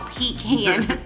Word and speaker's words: pecan: The traditional pecan topping. I say pecan like if I'm talking about pecans, but then I say like pecan if I'm talking about like butter pecan.